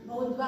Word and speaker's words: boudoir: Okay, so the pronunciation is Bodwa ಅಂತ ಹೇಳ್ಬೇಕು ನಾವು ಅದನ್ನ.